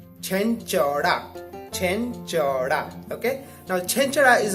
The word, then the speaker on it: Chenchada: If you're confused about the pronunciation or how it's called Chenchada.